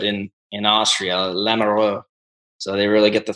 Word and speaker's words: Lamoureux: Yeah, North Dakota, they say Lamoureux. And then they really get the throat into it in Austria, Lamoureux.